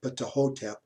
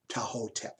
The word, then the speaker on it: Ptahhotep: I actually don't think the T is pronounced in this case. So rather than call these precepts of Ptahhotep, I think it's precepts of Ptahhotep.